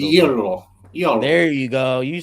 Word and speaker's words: gyro: Yee-ro. Say it the right way. Yee-ro. Roll it a little bit. Yee-ro. Yee-ro. There you go. You sound like a Greek now. Yee-ro. Yee-ro.